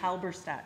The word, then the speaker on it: Halberstadt: Halberstadt.